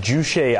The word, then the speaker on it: Juche: Now, North Korea having this sort of, I believe it's pronounced juche idea, this idea of independence from the outside world.